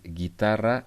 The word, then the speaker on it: guitarra: But in the other case, like guitarra and guerra, we don't pronounce U. It's not guitarra, it's not guerra. It's guitarra and it's guerra.